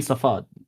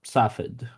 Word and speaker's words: Safed: And also, you mean Safad, not Safed.